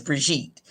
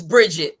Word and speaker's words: Brigitte: My pronunciation really is Brigitte. But if my mother is watching this, because I on my Facebook page, listen, you should have spelled it different. No, anyways, so she says it's Bridget, but it's spelled Brigitte.